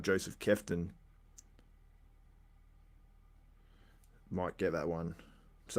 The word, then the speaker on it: Kveton: Josef Kveton. That's how they pronounced it there.